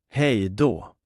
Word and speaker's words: hej då: Hej då. Hej då. Let's put that into a sentence now. She waved and said goodbye before leaving. Hon vinkade och sa hej då innan hon gick.